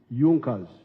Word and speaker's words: Junkers: However, there was a strong business group in Prussia known as Junas. It is written junkers but they pronounced pronounce it junas that saw the importance of a united German market.